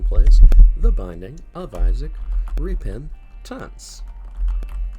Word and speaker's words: Repentance: musical con man plays the binding of isaac repin tents it's pronounced that way now we're gonna do another